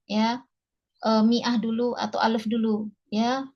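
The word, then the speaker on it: مائة: Dia mi'ah untuk 100 ya. Cuma tulisannya ma-nya panjang ya, tapi kita baca kasrah.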